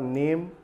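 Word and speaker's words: name: Silent letter में हमने लिखा है यहाँ पर नेम। अब यहाँ पर देखिए ये ई का उच्चारण नहीं करते, लिखा तो होता है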